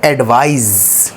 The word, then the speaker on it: advise: एक में Z जैसा साउंड है, S वाला और C वाला, राइट।